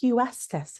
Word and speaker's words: Huestis: We have and it's Huestice. Is that Is am I pronouncing it correctly? Hust. Hust. Easier than it looks. Hust like Houston.